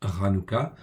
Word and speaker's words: Hanoukah: Nous voici donc à la fête de Hanouka, donc ça se prononce Hanouka, ou fête des Lumières.